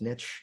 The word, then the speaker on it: niche: fears of the niching strategy and yes it's pronounced Niche not Niche because Niche runs with Rich one of the